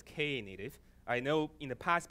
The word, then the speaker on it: Knative: have come in okay so it is called Kay native so it's ka native I know in the past people calling native